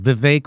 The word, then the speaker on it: Vivek: Hey, there's another clip of Vivek. That's how you say his name, like stomachache. Vivek Ramaswamy.